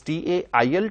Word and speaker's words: tail: That is T-A-I-L, tail, and this is T-A-L-E, tail. Both are pronounced in the same way, but the spellings are different and the meanings too are different.